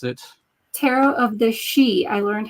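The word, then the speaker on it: Sidhe: it, Tarot of the She. I learned how to say this. So, it even says on the back, pronounced She, the ancient Gaelic name for the noblest order of the fairy, Faery race.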